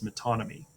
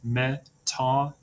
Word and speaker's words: metonymy: The first one is metonymy. It's pronounced metonymy.